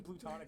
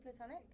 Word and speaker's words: platonic: Say platonic. Platonic. Oh, you say it really cute. Why? How do you say it? Platonic. Oh, I do you say say? plutonic. Oh. I say platonic. Yeah, I think it's American English. I mean, technically it's platonic.